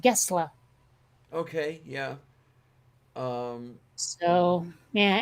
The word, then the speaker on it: Gessle: an American would say Gessel, Gess, sorry, Le, but apparently in Swedish it's pronounced Gessle.